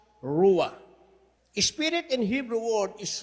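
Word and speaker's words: רוּחַ: It will pronounce ruwa.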